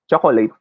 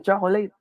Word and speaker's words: chocolate: We Filipinos say this as chocolate, right? Chocolate. I want to buy some chocolate. Tastes good. But actually, it should be pronounced as chocolate. There should only be 2 syllables to this word.